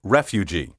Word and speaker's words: refugee: siege refuge and refugee the problem here is the letter g which should sound like the g in cage and regiment not like the g in collage be careful to say siege refuge and refugee also acceptable is refugee with the accent on the first syllable how do you pronounce